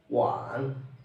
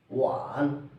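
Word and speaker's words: 晚: Wan. It pronounced like one. Wan.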